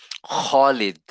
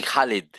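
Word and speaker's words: خالد: খলিদ, আমরা বলি খালিদ, খালেদ একজনের নাম, খলিদ।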